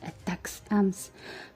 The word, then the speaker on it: ATACMS: Army tactical missile systems known as atacms and pronounced attacks Ms to hit Behind Enemy